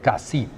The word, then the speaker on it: Cassis: This lovely spot is called Cassis, and they pronounce the S. Officially, they should not. It is really Cassis.